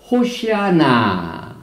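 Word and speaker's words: הוֹשִׁיעָה נָּא: 그런데 히브리어를 보면은 아나 야훼 호시아나 아나 야훼 하츠리까나 이렇게 발음을 합니다. 그래서 여기에 호시아나 여기 호시아나 지금 이제 호시아 구원하소서.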